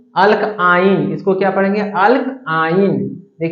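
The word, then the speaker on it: alkyne: हैं इसको क्या पढ़ेंगे एल्काइन स्पेलिंग फिर से पढ़े तो अल्की इसको पढ़ने हैं एल्काइन कुछ नहीं तो ये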